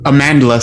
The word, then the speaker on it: Amandla: pronouncing that correctly amanda amandla stenberg was canceled like a bandla yeah it's like amanda with an l in it okay yeah with an